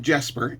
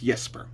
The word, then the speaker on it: Jesper: So it's not Jesper, it's Yesper.